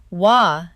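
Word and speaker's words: 和: It's about something that lives in the bones, a way of moving through the world that children absorb before they can name it. The word is wa, one syllable, written with a character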